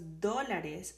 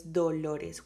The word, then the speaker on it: dólares: This is very interesting because dólares, sometimes I have had students that says dolores, which is pain, and dólares is dollars. So try to pronounce this one, dólares.